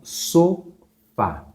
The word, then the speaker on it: sofá: A palavra sofá. Qual que é a sílaba mais forte? Sofá. A mais forte é a última.